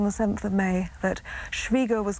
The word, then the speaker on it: Schwieger: I think it would be Schwieger because it's spelled I-E rather than E-I. I've always understood that the pronunciation is Schwieger.